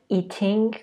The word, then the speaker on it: eating: نکته تلفظیش هم اینه که توی تلفظ امریکن eating گفته نمیشه. ت تبدیل میشه به د میشه eating. الیسا پس وقتی داشتن کیک